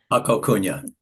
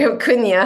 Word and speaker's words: Huna: I pronounce that right Hakuna oh sorry Huna I pronounced Ed kuna the way I would a Hawaiian word in 2015 he met